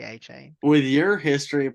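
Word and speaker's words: Achane: across from them uh is it pronounced a chain yes uh or uh I've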